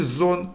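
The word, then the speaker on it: Sohn: Вона може в окремих випадках вимовлятися як з, як в слові зон син, або в поєднанні з іншими приголосними може давати, наприклад, звук ша, як шулі школа або штрайхольс сірник. Наступна 20та літера за ліком - це літера Т.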